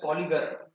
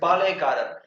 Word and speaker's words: Palayakarar: Okay, Palayakarar, or in English we call it as Polygar. Okay, in English textbook, okay, they have mentioned a word called as Polygar. But in Tamil, the right pronunciation is Palayakarar.